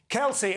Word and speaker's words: Kelce: The pop superstar's other half is NFL player Travis Kelce. I hope I'm pronouncing that correctly. Kelce, OK, thank you.